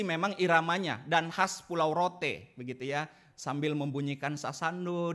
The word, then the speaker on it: Rote: oleh seorang dari asalnya dari Pulau Roti tulisannya bacanya Rote katanya begitu Fredly Edward lango Hai